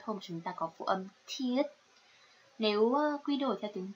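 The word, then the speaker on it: 티읕: Tuy nhiên nó không đọc là e đâu, mà được đọc là thiết, thiết.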